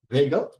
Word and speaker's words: Waegell: Kelvin, McQueen, and Waegell. As you pronounce, Waegell? Waegell. Waegell. Waegell? It's not the original pronunciation. That's how my family says it.